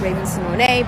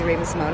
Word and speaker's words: Raven-Symoné: So yes, I don't trip over it, I don't correct people, but the correct spelling of my name is pronounced Raven-Symoné, but you can call me Raven-Symoné, I'm not tripping over it.